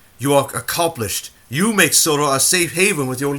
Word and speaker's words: Sodor: Sonar, ha ha. Do you mean Sodor?